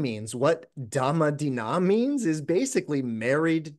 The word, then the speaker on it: Dhamma: The first part is our Dhamma, which is the Pali pronunciation of Dharma, right?